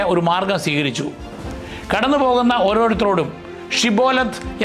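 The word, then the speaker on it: Shibboleth: കടന്നുപോകുന്ന ഓരോരുത്തരോടും ഷിബോലത്ത് എന്ന വാക്ക് ഉച്ചരിക്കാൻ അവർ ആവശ്യപ്പെട്ടു. പ്രാദേശികമായ സംസാരരീതിയിലെ വ്യത്യാസം കാരണം എഫ്രേമിയർക്ക് ഷാ എന്ന ശബ്ദം ശരിയായി ഉച്ചരിക്കാൻ കഴിയുമായിരുന്നില്ല. പകരം അവർ സിബോലത്ത് എന്നാണ് പറഞ്ഞിരുന്നത്.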